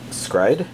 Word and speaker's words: s-CRY-ed: up we've got skrito scride is basically the way it's pronounced in the title catch the no the